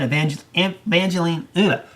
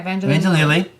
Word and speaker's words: Evangeline: The film also stars Paul Rudd, Evangeline, is that how you say it? Yeah, Evangeline.